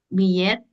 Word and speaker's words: billet: Billet, como la doble L, como Y o como L, decía y tú. Ah, como Y, Claro, billet.